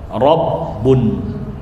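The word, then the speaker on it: ربٌّ: Panjang ada alifnya. Tapi karena keseringan pengucapan maka alifnya lepas. Jadi dibaca rabbun sebagaimana Allah dari kata ilah alilah.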